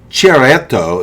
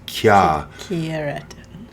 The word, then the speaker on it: Chiaretto: It's Il Rosé Chiaretto di Bardolino. It's not chi, it's a key. No. Chi. Oh, that's the way it sounds. Chiaretto. Can you tell me? I wrote it down, but it's Chiaretto.